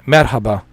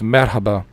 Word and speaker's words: merhaba: from turkey cheers man how they say it merhaba right merhaba um i i think that's like the the custom in the muslim uh countries to to say hello it's merhaba yeah yeah i remember a little bit you